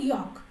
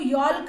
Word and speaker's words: yolk: उसको हम बोलते हैं यॉक. इसको यॉल्क नहीं बोलना है, इसको यॉक बोलना है. YOLK, एल इसमें साइलेंट है, यॉक.